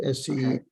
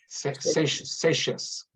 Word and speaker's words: Seixas: you mentioned the early part of his history, and the name Seixas comes up, and that's the way it's pronounced, S-E-I-X-A-S. Seixas.